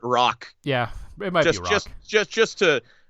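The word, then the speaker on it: Roak: I'm pronouncing it right it's r o a k so I could be butchering that name completely let's call it rock yeah it might Beck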